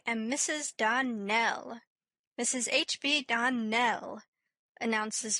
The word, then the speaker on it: Dell: Clarice Elmyra told me that you pronounced our name Donald. Now, Miss Shirley, the correct pronunciation of our name is Darnell. Accent on the last syllable.